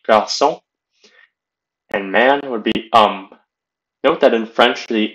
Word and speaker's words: homme: And man would be homme. Note that in French, the H is silent. So you'd say homme.